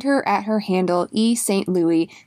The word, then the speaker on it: St. Louis: Louis EST ello you is mine the last name is pronounced st. Louis and what else also my podcast I'm on